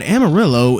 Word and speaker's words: Amarillo: not pronouncing that wrong that is genuinely how the city in Texas is pronounced I really think that Amarillo is the correct pronunciation